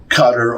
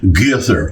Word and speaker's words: Qatar: that I should say uh I should say cutter or guar because uh it's like same thing